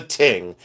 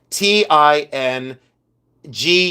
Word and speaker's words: tingue: This is a ting. T I N G U E. Ting. Uh this is a ting button. Uh pronounced t i n g, but it's ting.